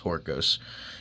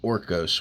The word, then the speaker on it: Horkos: the Spartan horkos which I thought it was horcos it's actually pronounced orcos which means uh it's